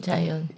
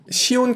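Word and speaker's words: Zion: 자이언. 시온 캐년이라고 발음하기도 하나 보더라고요.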